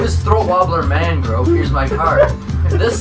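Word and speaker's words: Raymond Luxury-Yacht: no it's spelled raymond luxury yet but it's pronounced throat wobbler mangrove he looks like an alien already just black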